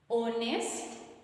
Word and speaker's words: honest: honest is not pronounced silent silent h silent h but here we pronounce